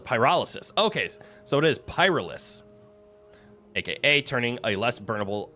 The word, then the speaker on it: pyrolysis: I don't know how to pronounce it. The verb describing the process of pyrolysis. Okay, so it is pyrolis, aka turning a less burnable uh material into a more burnable material.